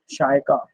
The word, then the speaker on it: शायका: मैं सौरभ एंड शायका, आपका नाम का प्रोनाउंसिएशन क्या है, शायका या शाक के? शाय का सर, इसका आंसर -1 अपॉन में 2 under root 1 minus x raise to 4 है।